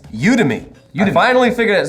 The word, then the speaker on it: Udemy: along on the journey of us learning how to say this word it makes it fun for this sponsor you to me say with us you